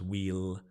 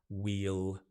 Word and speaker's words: we'll: we will normally becomes wheel wheel wheel the same pronunciation as in a wheel on the car wheel we'll uh we'll